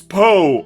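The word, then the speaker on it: Opo: Oh, like the first half of poo. It's Poe, O-P-O. The first O is silent, the second one isn't.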